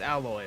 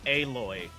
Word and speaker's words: Aloy: that way I mean you name it something that everyone knows how to say it it's alloy but then say it's aloy you